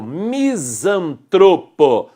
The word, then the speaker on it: misantropo: não gosta das pessoas é o misantropo sílaba tônica tron para terminar o a